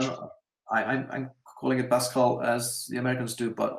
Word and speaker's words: Pascal: in C and in Pascal. That's so I don't interesting. know. I'm calling it Pascal as the Americans do, but obviously he was a French guy, so it should be pronounced Pascal.